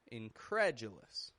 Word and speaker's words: incredulous: It peaks in the middle and it goes flat on the D, U.